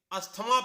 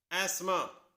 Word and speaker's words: asthma: हम इसे अस्थमा पढ़ते हैं, जबकि इसकी सही प्रोनाउंसिएशन है एस्मा।